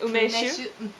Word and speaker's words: Umeshu: Umeshu? Okay, see, I've got that one. Sake? Sake, yeah. Okay. Umeshu? Okay, am I going? Yeah, you've been going for a while. It's called umeshu, and we found out that it's 15 years old.